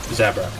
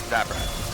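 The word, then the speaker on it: Zabrak: by the way um zabra zabra um at least that's how they say it in the game play not that it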